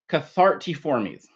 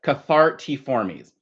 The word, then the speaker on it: Cathartiformes: Okay, so the first word, which is ridiculously long, is Cathartiformes. Yes, that's what I said. Cathartiformes. Okay, so I want you all to pronounce with me. Cathartiformes.